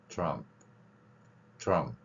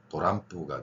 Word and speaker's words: Trump: 이 트럼프라고 이제 우리가 보통 표기하는데 이게 이제 일본어 발음식으로 되면은 일본인들은 발음을 못하기 때문에 어떻게 됩니까? 도람프가 되죠. 도람프. 일본 방송을 한번 들어보시면 미국 대통령 선거 나올 때 이제 도람프 에끼데 도람프 막 이렇게 나옵니다.